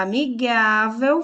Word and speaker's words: amigável: E na palavra amigável foi destacado o gá, que é a nossa sílaba tônica. É a sílaba mais forte da palavra amigável.